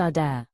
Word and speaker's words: Adair: I went to camp with a girl named Adair. Pronounced a dare.